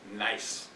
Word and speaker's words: gneiss: in what is called gneiss. Looks like gneiss, but it's German. The G is silent. German is EI. It's going to put the emphasis on the I. So you pronounce this phonetically N-I-C-E.